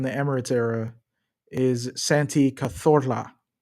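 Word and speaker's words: Cazorla: I was corrected by my Spanish uh housemate back in the day when I lived in Barcelona on how to pronounce it. I'm sure he was probably embarrassed for me when I pronounced it so wrong. Santi Kazora, right?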